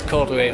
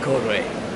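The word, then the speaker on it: Cordoue: Nous voilà à Cordoba, je pense que ça se prononce Cordoué en français, je ne comprends pas pourquoi, mais ville historique, mauresque et fascinant apparemment.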